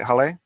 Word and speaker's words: Haleh: Did I pronounce that right, HALEH? Yes, correct. Oh wow, I'm an expert name pronouncer, but yeah, a lot of people call her Haley for some reason, even though it's clearly not that.